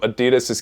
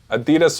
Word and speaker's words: Adidas: don't dislike any of Adidas's kits as of now. Maybe Belgium's I'm not the biggest fan of, but it's still not terrible. Adidas or Adidas, however you want to pronounce it, they are the leading brand for this World Cup.